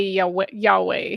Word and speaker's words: Yahweh: Um, I have Prixie Purple is saying it's pronounced no way. Yahweh.